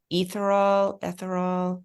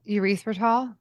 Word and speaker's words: erythritol: And in the cookbook, in the recipes, a lot of the recipes have the ingredients, and I'm going to pronounce it wrong. Ethyl. Oh, erythritol?